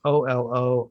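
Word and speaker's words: Oloixarac: called Mona by an Argentinian writer named Paula Olixirac. I don't even know how to say her last name. Olixirac, Olioshirak. Mhm. Pola, it's Olixarac.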